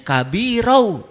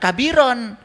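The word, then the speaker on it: كبيرا: Awas kabiro itu ada fathatain menghadapi wau idgam. Bacanya kabiru. Jangan kabiron.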